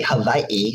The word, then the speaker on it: Hawaii: for joining me today well in Hawaii Hawaii is a proper pronunciation we say Mahalo Nui